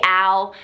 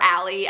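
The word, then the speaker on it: Ale: Okay, second YouTuber that I love to watch is Wonderfully Al, or Allie. I always say her name wrong because it's spelled A-L-E, and I just think Al. I don't think Allie.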